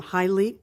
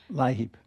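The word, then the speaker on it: LIHEAP: correct correctly Le um High leap no wait a minute Li Heap Li Heap yeah could you just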